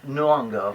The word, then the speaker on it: Nyong'o: other very good sir uh I don't probably mispronounced her name Lupita Nyong'o yes right you got right it's a good